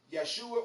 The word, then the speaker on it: Yeshua: the devil gave him that's not the way you're supposed to say his name yeshua or yeshua christ if